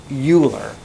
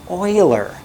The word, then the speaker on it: Euler: because of this guy named and it's not euler this is french he's a french dude his name is oiler his name is euler i don't speak french